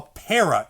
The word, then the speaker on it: para: hand is where a para is. Para. Para. When you say the word para, you're accenting the first syllable and saying the second syllable normal.